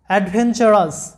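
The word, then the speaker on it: adventurous: TUR এরপরে ও আছে, যার কারণে টি এর উচ্চারণটা হবে চ এর মতো। যেমনটা তোমরা রুলসে পড়েছিলে TURE চার, তো TUR এর পরে ই ও অথবা এই অন্য যে কোনো ভাওয়েল থাকলে টি এর উচ্চারণটা হবে চ এর মতো। তাহলে আমাদের এই শব্দে আসতেছে AD অ্যাড, VEN when, TUR চার, OUS মানে হচ্ছে আস, চার আস, অ্যাডভেঞ্চারাস, অ্যাডভেঞ্চারাস।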